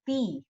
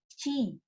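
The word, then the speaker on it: ち: It will not be ti. They don't have ti. Instead of ti there is chi. So this shape like a 5. It is chi.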